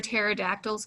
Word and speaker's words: pterodactyls: other child okay why why can't you hear pterodactyls go to the bathroom i don't know why because the p is silent yay good job all